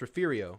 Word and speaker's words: Refugio: Refugio is pronounced Refugio. It's a Texas thing.